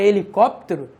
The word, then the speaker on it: helicóptero: você fala palavra Hélio quando você fala palavra helicóptero se você não nota o som do HIV também tipo que a letra h não representa o som nenhum beleza a letra h